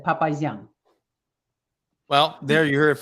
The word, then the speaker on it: Papazyan: But so it's Papazyan. It's the Armenian, or Russian, how we pronounce it, Papazyan.